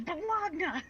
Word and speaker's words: Bologna: Or? This is Bologna! It's Bologna! I refuse for to rhyme with pony, because then you can say you have a pony, and no!